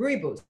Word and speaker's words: rooibos: on, I don't know if I'm going to pronounce it right, rooibos tea, R-O-O. Yeah, how do you say yes. it? Rooibos.